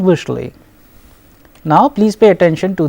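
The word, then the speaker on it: вышли: So, here since the stress is on ui, we pronounce it as vishal, vishla and vishli.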